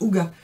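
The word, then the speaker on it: hygge: de livres en fête le livre de ig à se prononce au gua le livre de le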